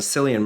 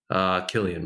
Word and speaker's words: Cillian: yeah yeah and in Cillian Murphy right Killian Murphy get her yeah sorry kill him my bad yeah it's the Irish pronunciation I never knew it